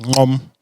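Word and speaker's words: Gqom: So there's then Amapiano, there's Gom, or pronounced Gom, Okay.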